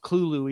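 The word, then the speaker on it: Cthulhu: Um, and it's pronounced Clulu even though it's with a T.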